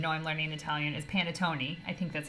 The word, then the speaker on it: panettone: it wrong even though I'm learning Italian is panettone I think that's how you say it correctly